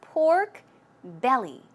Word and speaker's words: pork belly: part right so it's pork belly stress goes right here on the belly pork belly pork belly great job okay let's check